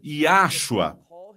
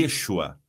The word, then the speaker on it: Yeshua: ele é Divino na e eles dizem yashua bem temos um problema não com a mensagem ou com a sua intenção se não que yashua não hebraico e é uma criação humana para pronunciar esse nome e é incorreta não é fiel ao que diz o texto que você o chamar ah e Yeshua por aqui vemos no